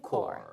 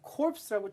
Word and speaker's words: Corps: 주의할 건 corpse라고 절대 읽으시면 안 됩니다. corpse 하면 왠지 시체란 뜻이 돼요. 스펠링도 That's 완전히 right. 다릅니다. 아하. 자, 그래서 PS는 완전히 묵음이고요. Marine, Corps. COR처럼 읽으시면 돼요.